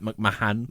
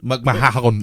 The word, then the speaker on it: McMahon: I always struggle how to say his name cuz it's like McMahan. McMahon. Yeah.